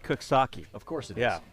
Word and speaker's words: Coxsackie: there's a place it's spelled Coxsackie, but it's pronounced Cooksaki.